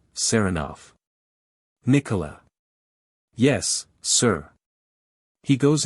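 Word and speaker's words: Saranoff: him round this way he pronounces the name with the stress on the second syllable sarov Nicola yes sir he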